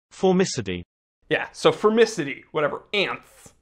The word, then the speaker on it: Formicidae: spec sheet saw femicity didn't know how to pronounce it i was like for miss a day and then i had to you know roll what i listened to formicity yeah so fermicity whatever